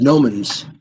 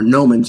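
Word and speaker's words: gnomon: those are the the Gans uh or gomans I guess I don't think you pronounced the G I think it's correct uh this small hole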